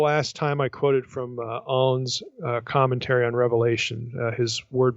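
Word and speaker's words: Aune: time I quoted from en's Commentary on Revelation his word biblical commentary and by the way his name is spelled a NE and he wrote the nicians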